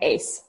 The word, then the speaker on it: Uys: home country people do but it's pronounced ace as in ac yeah that's cool thank